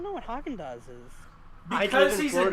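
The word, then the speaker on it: Häagen-Dazs: you not know what haagen-dazs is i don't see sort of we call it a different thing here what do you call it there we call it hodgen dodge like we pronounce the g oh yeah wait you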